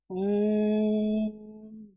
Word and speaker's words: ओम: ओम, मतलब ओ को लंबा खींचा और फिर म।